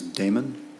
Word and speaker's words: Damon: Damon, did I pronounce that correctly?